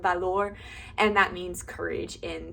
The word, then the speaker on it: valor: English is Valor but in Spanish you would pronounce it like Valour if that makes sense so everybody was like